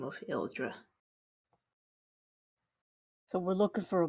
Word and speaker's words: Ildra: one moment let me copy yeah and it is spelled i-l-d-r-a ildra okay gotcha yeah I believe she went by the name of eldra so we're looking for a body we're precisely